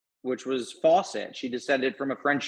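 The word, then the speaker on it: Faucette: France perhaps you know fasay um I I defer to the French speakers there but in the British Caribbean it was it was uh almost certainly pronounced Fawcett so that would have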